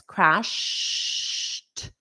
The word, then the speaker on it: crashed: So notice here this ed is pronounced as a t because the sound is already at my lips crashed.